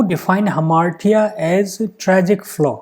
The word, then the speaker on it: hamartia: Next question, who define हमार्टिया as tragic flaw? The pronunciation of this word is हमार्टिया rather than Hammersh.